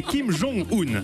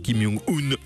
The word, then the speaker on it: Kim Jong-un: Son nom, Patrick, est Kim Jong-un, accent tonique sur le jong. Le bonhomme est tatillon. Si vous l'appelez encore une seule fois, Kim Jong-un.